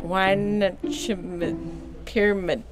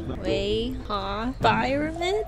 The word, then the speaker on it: Weihnachtspyramide: And now I'm gonna go see if somebody can tell me, how do I pronounce this? How do you say this? Weihnachtspyramide. Is it English? Weihnachtspyramide?